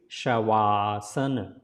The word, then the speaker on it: Shavasana: If you put together, then this va sound becomes va, but separately if it is written, don't say Shavaasana, but it is Shavaasana. Saying together is Shavasana.